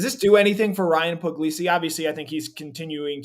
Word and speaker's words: Puglisi: It looks like easy gas, where I think I wrote that when Puglisi, got to put the word glee in the pronunciation there, Puglisi, when he throws the